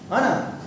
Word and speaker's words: horn: Horn. The first meaning of the horn is horn. Okay, R is silent.